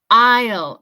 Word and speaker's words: aisle: Aisle. Aunque se escriba A-I-S-L-E, la pronunciación es aisle. Aisle. Como si fuera A-I-L.